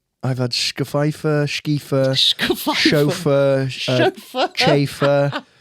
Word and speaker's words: Scheiffer: Chauffeur, Chafer, Scheiffer, and then second name's. So people are, ooh, Mr. Ooh. Yeah. But I've had all of that. But Schaefer is how I prefer it to be pronounced.